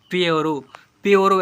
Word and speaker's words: pure: तो यू को अ से पढ़ते हैं, PURE प्योरो, ऐसे पढ़ते हैं, प्योरो, SURE श्योर, यहाँ पर CURE क्योर, ऐसे पढ़ते हैं।